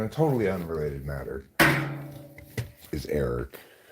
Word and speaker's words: Eric: totally unrelated matter is Eric you know rhymes with Derek Derek and rhymes with